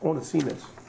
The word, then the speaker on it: Onesimus: And it, anyway, I've been mispronouncing it. It's Onesimus.